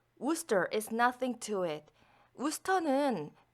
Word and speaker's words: Worcester: 여기서 우스터 스펠링이 마치 월체스터 뭐 이런 식으로 발음이 될 것 같지만 그렇게 발음이 되지 않고요. 우스터이라고 발음을 해야 합니다.